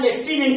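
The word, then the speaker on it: lieutenant: मे ध्यान दीजिए यहां लेफ्टिनेंट में ये लेफ्टिनेंट में है लेकिन एफ इसमें नहीं है इसको जब हम जाएंगे उसमें फम सिंबल में तो लेफ्टिनेंट में एफ आएगा एफ का सिंबल आप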